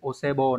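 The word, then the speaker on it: お歳暮: Còn âm ghép đọc là bo, cũng đọc là bo nhưng mà trong từ ví dụ osebo này.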